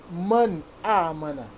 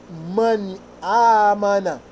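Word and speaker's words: مَنْ آمَنَ: Man amana. Whenever I want to recite it in our Quran, we must identify this word, this noun. We must recite this noun or pronounce this noun clearly.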